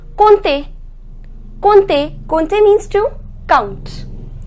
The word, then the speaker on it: compter: We neither pronounce M nor P. The pronunciation is compter.